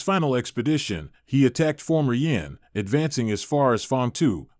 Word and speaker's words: Yì: At that time, Emperor Mu of Jin had already passed away, and the reigning emperor was Emperor Fei of Jin, Sima Yi, pronounced Yi.